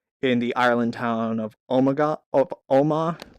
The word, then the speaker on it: Omagh: This photo was taken moments before in 1998 in the Ireland town of Omagh. I don't know how to pronounce that. There's a silent GH in there.